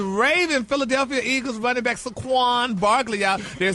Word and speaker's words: Saquon: No, that's his name, Saquon. Yeah. What did you just say? Shaquan. Saquon. No, you're not going to put him in the community. Yeah, put some respect on his name. Say his name right, dog.